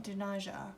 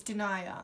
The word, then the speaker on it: Denia: This is in the shade Denia. I think that's how you pronounce it. It's not Denaja, it's Denia.